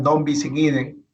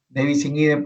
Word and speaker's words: ne bis in idem: Lo que algunos denominan non bis in idem, aunque la pronunciación correcta, la gramática correcta en latín es ne bis in idem porque es impositivo, que impide la imposición